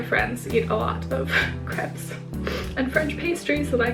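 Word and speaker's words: crêpe: on all the creps by the way it's pronounced crep in America for some reason I was always taught that it's crepe but it's crep so I can't have any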